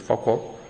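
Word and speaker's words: Foucault: estas relaciones eh facor eh faca se escribe así, pero es faor faor, algo así.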